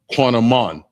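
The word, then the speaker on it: קינמון: And it's pronounced quanaman.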